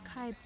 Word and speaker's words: Kaibab: Kelsey and I have decided it's pronounced the Kebab Trail. Not kaibab. Yeah. No, it's none of that. kaibab. It's kebab. Like the food.